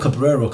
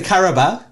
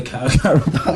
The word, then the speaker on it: Carabao: How do you pronounce it? It's the Carabao. Oh, the Carabao, yeah, of course. Why do I always call it Cabrero?